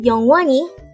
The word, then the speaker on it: 영원히: this is pronounced as a three syllable word the first syllable is young second syllable is one and the third syllable is he pronounce it with me the word youngwani is an adverb which